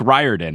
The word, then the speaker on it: Riordan: So then I specifically looked for an interview where Rick said, "Hi, I'm Rick Riordan."